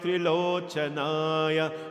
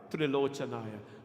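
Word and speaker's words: त्रिलोचनाय: Nagendra Haraya Trilochanaya. Please don't say Trilochanaya. Some people say Trilochanaya, right?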